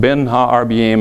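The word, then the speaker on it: בין הערביים: is that expression that literally means is it's pronounced been ha our BM in Hebrew literally means between the evenings it's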